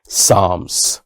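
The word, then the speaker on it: psalms: Text of सा्स साम्स P silent रहेगा और L silent रहेगा। इसको क्या कहेंगे? साम्स। जैसे पाम पढ़ते हो, काम पढ़ते हो। इसी तरह से पी साइलेंट रहता है। यहां पे एल साइलेंट रहता है। इसको साम्स कहते हैं।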